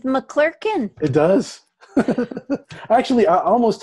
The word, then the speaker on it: McClurkan: And it kind of rhymes with McClurkan.